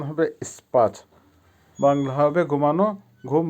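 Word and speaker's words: спать: হবে ঘুমানো বা ইংলিশে হবে স্লিপ আবারো বলছি উচ্চারণ হবে স্পাট বাংলা হবে ঘুমানো ঘুম বা ঘুমানো বা স্লিপ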